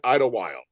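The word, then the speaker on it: Idyllwild: gonna be at the E wise I can't pronounce that city in California e oh uh idle while right idle while yes March 5th that week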